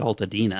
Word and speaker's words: Altadena: billion dollar Powerball lottery jackpot sold in uh Alta Dana is that how you pronounce it Len Ulta Dana I pronounce it Ulta Dina Ulta Dina yeah Altadena yes California Lottery officials